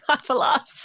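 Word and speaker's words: Hasufel: And then there's Hasselfell. Hasselfell? Is that how you say it? How do you say it? Haffalas.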